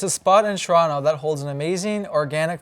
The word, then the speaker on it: Toronto: Today we'll be exploring some historical landmarks around our beloved city, Toronto. See, the proper way to say it, the second T is silent. Today we're here at Toronto Union Station, and I'm going to tell you some cool fun facts about it.